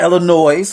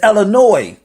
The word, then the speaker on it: Illinois: It's not Illinois for you out of town motherfuckers. It's Illinois. The S is silent.